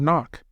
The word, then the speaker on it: knock: The don't word is like the silent K in the word knock. Don't gets ignored by our brains just like the sound of the letter.